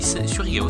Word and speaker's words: Surigao: Oui, Surigao, c'est comme ça que ça se prononce.